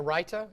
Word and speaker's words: raita: And let's say I was serving this in a restaurant, I would serve this with a raita sauce, which is just a simple combination of sour cream, yogurt, and cucumbers.